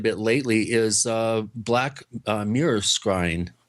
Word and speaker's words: scrying: I know one thing that you've been doing quite a bit lately is black mirror scrying. Screen? How do you say that word? Scrying.